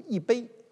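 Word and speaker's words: 一杯: 比如一杯啊，一杯水，一手遮天，读四声吧，一手。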